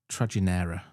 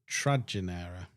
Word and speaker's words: Trajinera: I mean, So, the little boatman Trajinera. Trajinera. Like tragic kind Trajinera. T R A J I N E R A. Ah, so the J wouldn't be pronounced as J.